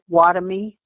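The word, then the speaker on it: Wahtomy: So why don't you give his last name and how to spell it? Okay, his name is Ambrose Watomy, W-A-H-T-O-M-Y.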